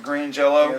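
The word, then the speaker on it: Green Jellö: jelly on the albums they had the umlaut you still pronounce it green jello let's ask the uh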